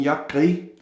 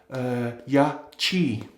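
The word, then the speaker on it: Yaqi: I've been calling them Yakri for many videos because the Q is pronounced Gra in Greenlandic, but it seems that it should be pronounced like this CH in the word chair or cheer. So it's supposed to be pronounced Yachi.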